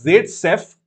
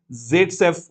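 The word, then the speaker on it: Zaitsev: So this is Z-Sef, oops, or we can also call this Z-Sef product, SEV. That's how he pronounces it. Khair, V is pronounced as F.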